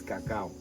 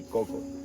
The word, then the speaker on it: cacao: The word I'm going to use everybody is cacao. I'm not going to say coco. Okay. Probably English is the only language where we change the pronunciation to coco.